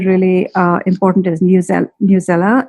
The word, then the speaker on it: Newsela: i find really really uh important is news newsela it's dub it's it's spelled n-e-w-s-e-l-a i have it in my list